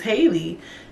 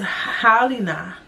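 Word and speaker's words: Halyna: I just thought her name was Haley. It says Halina.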